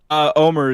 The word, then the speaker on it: Omer: What is it, Omar or Omer? How do you say that? Omer is fine.